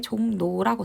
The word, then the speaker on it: 종로: 2번은 보면 종로가 있죠. 종로. 근데 얘가 발음이 될 때 종로라고 됩니다. 그래서 보면 리을이 무엇으로 바뀌었죠? 리을이 니은으로 바뀌었습니다.